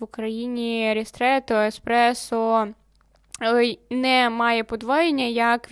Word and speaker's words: Еспресо: ще в 2018 році у нас було дві позиції в меню Еспресо і Експресо Так ми людей вчили е правильно вимовляти саме слово тому що епресо у